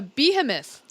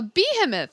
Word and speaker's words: behemoth: I put the accent on the wrong syllable.